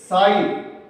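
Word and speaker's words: psi: Potential, और इसको हम साई, पी एस आई साई, ये पी साइलेंट है, यहां पर साई के सिंबल या चिन्ह या प्रतीक के द्वारा हम इसको प्रदर्शित करते हैं।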